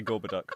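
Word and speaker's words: Gorboduc: this is is it is it gorbad duck or gorbad it's pronounced gorba you were hoping I'd set you up for that and I didn't even know it yes I I generally say gorber duck but um well that's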